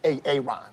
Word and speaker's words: Aaron: So, Aaron is just reveling in and I'm happy for him. Let's go. first time I said A-A-Ron cuz it's pronounced Aaron.